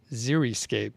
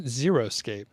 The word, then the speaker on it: xeriscape: my wife and i the correct way to say xeriscape is xeriscape not xeroscape xeriscape is a type of